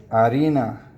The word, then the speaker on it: harina: And then harina. Cuz you don't pronounce the h in Spanish.